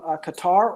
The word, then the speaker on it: Qatar: paranjeet is watching from qatar or or cutter i believe as he might pronounce it carolyn points out that